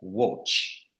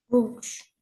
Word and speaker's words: watch: pas pas vraiment enfin c'est un a mais qui se prononce avec un o watch watch voilà tout c'est quoi